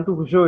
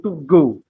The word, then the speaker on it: Turgot: Bacanya bukan Turgot ya, tapi Turgot.